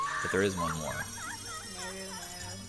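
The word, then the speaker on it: Nayru: Nairo, it's pronounced.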